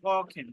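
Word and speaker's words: kochen: Dry number, dry ওখেন, ওখেন, ককেন, উচ্চারণটা হবে ককেন, হ্যাঁ, ওখেন, ককেন।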